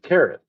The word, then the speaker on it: Carith: The main characters are twin prince Andreas and the princess named Carith, pronounced exactly like my name.